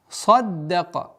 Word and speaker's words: صَدَّقَ: Как и в предыдущем аяте, в 3-м аяте, мягкий, твердый, мягкий, твердый. Здесь то же самое. Твердый, мягкое, твердое. И поэтому даль при удвоении и произношении нужно максимально мягко произносить и удваивать.